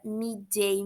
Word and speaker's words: midday: Então a gente tem meio-dia, midday, a gente pronuncia midday mesmo, é como se tivesse a existência de apenas um D, midday, e o PM, que se refere após o meio-dia e antes da meia-noite, midnight, tá?